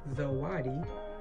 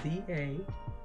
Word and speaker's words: zawadi: These are called zawadi in Swahili. It's spelled Z-A-W-A-D-I, zawadi, Swahili for gifts.